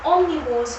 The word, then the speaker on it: omnivores: Now, omnivores means the O, I'd like to say, stands for all. It's not an A, it's an O, but when you pronounce it, it does say all, right?